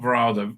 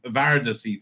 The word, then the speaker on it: Varada: You You have to put that that that down to I've been saying her name wrong. Var Seth apparent. Not Vera. Var I think is how you pronounce.